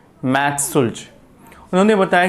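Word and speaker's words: Schultze: इसके बाद next scientist है मैक्स सुल्ज।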